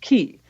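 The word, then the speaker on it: Quay: We actually walked down to circular ki. It's actually it looks like qu u a y but in Australian it's pronounced ki.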